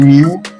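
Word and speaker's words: μ: So this constant that you have there um u not actually you is mu but people in Nigeria pronounce it as U.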